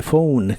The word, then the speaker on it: phone: usaremos las palabras The Phone que significan el teléfono también se refiere al teléfono móvil o teléfono celular la pH de inglés casi siempre se pronuncia como una F como en este caso